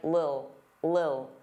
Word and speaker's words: little: Now little, native speakers, including me, generally pronounce the T's as soft D's. Little, little. Some native speakers really reduce this word and it just sounds like lil, lil, get a lil, get a lil.